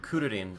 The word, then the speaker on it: Kuririn: The second fight, if you could even call it that, is Piccolo versus Krillin, or Kuririn if you're going with the Japanese pronunciation.